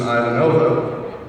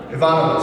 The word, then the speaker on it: Ivanova: Well, as you know, Bob, Claudia's classic character on Babylon 5, Susan Ivanova, was also made in Russia. Ivanova, sorry. It's also made in Russia. I was using the Czech pronunciation.